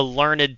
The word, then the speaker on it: learned: It's It's usually one It's considered one syllable for the action of it, but two syllables if it's the adjective. So, if it's describing like a a learned teacher, then it's usually counted as two syllables.